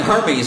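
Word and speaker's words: Hermès: It's pronounced Hermes.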